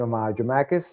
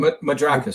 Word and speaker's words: Madrakis: Dramakis? Is that how to say his name? Madrakis. Madrakis. Yes, sir.